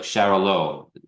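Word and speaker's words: Xarel·lo: know how to pronounce the Spanish x a r e l low like Shalo yeah and then and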